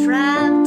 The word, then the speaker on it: trapped: Và tờ, cái ED ở đây được đọc là âm t, t, t, âm tờ đó.